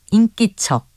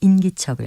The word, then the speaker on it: 인기척: 있게 하는 소리나 기색 발음은 인기척과 인기척 모두 맞습니다 기척과 관련된 표현들이 몇 가지가 더 있습니다 한자 문 문자를 쓰는 문기척은 문 안에 들어가기 전에 문 밖에서 문을 두드리거나 이름을 부르거나 해서내는 인기척을 말합니다 또 보이지 아니하는